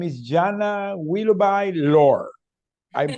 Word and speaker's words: Willoughby-Lohr: Her name is Janna Willoughby-Lohr. I'm pronouncing okay? Willoughby-Lohr, yeah. Willoughby-Lohr, okay.